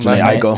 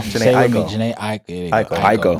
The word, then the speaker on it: Jhené Aiko: Jhené Aiko. Jhené Aiko. That was Jhené Aiko.